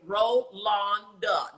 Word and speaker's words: Rolonda: And I'm like, her name is not Rolanda. No, you tell him spell it. You tell him to pronounce it phonetically. Rolonda, not Exactly. Rolanda. R-O-L-O.